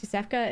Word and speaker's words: Yosefka: Also, would really love to thank Bloodborne for helping me know how to pronounce Yosefka.